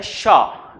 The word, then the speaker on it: pshaw: पुह, POOH, या PSHAW, इसमें P silent रह जाता है और इसको पढ़ा जाता है शाह। P साइलेंट रहता है, पढ़ेंगे क्या हम, शाह, पुह या शाह।